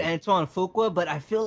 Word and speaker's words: Antoine Fuqua: Antoine Fuqua.